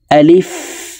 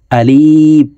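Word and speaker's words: ألف: বিসমিল্লাহির রাহমানির রাহিম আলিফ আলিফ প্রিয় দর্শক আমরা অনেকে এই আলিফ হরফের উচ্চারণ টেনে উচ্চারণ করে থাকি আলিফ এভাবে পড়ে থাকি প্রিয় দর্শক আলিফের উচ্চারণ যদি টেনে পড়ি তাহলে শুদ্ধভাবে হবে না অশুদ্ধ উচ্চারণ হবে তো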